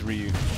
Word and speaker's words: Ryu: I did used to say Ryu a lot, yeah. But now it's Ryu.